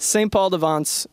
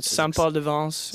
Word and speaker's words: St. Paul de Vence: St. Paul de Vence is good. Or St. Paul de Vence, if you want to be.